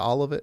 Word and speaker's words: Olivet: Vet, like Corvette, Olivet.